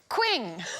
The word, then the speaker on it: Qing: Quing. Well, we will get there eventually. Que Bling. It rhymes with bling.